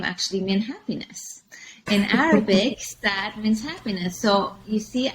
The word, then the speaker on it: Saad: That in US, you would pronounce it like sadness, but it actually means happiness.